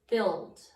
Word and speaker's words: build: Your next sight word is the word build. It's B-U-I-L-D, and that is also one of your spelling words this week. Build is tricky because it has a U in the middle of the word that you cannot hear.